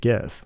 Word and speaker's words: GIF: it to an animated gif and yes I said GIF with a hard G to get a bunch